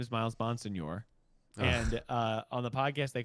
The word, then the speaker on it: Bonsignore: I mean it's pronounced Bonsignore, like Italian.